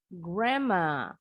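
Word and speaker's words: grandma: berubah bunyi jadi mrempa begitu juga yang ini huruf d nya silent huruf n-nya berubah jadi m gramma boleh juga menyebutnya grandmother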